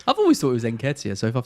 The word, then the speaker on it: Nketiah: By the way, we've said 3 different pronunciations of Nketiah tonight. I'm sure it's Nketiah. You've gone Nketiah, and then Luke has gone Nikita like he's some kind of Elton John fan.